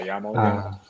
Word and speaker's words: YAML: I don't know how to pronounce it properly. Yeah, YAML.